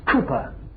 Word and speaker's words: Cowper: I've written William Cowper, c o w p e r, but pronounced in those days Cooper. And I must pause for a few moments to tell you uh who Cooper was.